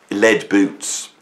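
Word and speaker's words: Led Boots: Now, what's interesting, Lead Boots, right? Lead Boots, right? The lead is spelled L-E-D, like Led Zeppelin, right?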